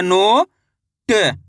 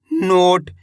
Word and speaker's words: नोट: म ओ की मात्रा मो न तो मिलके बन जाएगा मोन इसी तरीके से यहां पे देखो ना में ओ की मात्रा नो ट नोट नोटा नहीं पढ़ाना नोट रा ओ की मात्रा